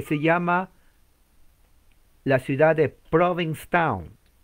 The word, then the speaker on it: Provincetown: en lo que se llama la ciudad de provincetown y fue el 11 de noviembre como hoy de 1620 conway ahí está se pronuncia provincetown lado es la doble es como